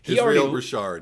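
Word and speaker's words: Israel Broussard: Israel Bouchard, yeah.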